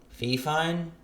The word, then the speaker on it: Fifine: thank you carly and it's a fi fine fee fine f-i-f-i-n-e i think that's how you say it or spell it and i'm